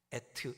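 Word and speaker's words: עת: 때 뭐뭐하 몸에 나오는 때 말고 이때 저 때 어 하 그때 시간을 얘기하는 그 때를 의미하는 단어를 에트 이렇게 발음합니다.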